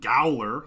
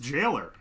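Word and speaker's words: gaoler: I've been saying Gowler like an idiot. I guess it's just pronounced jailer. It's jailer, but in like, I want to say Gaelic or Old English.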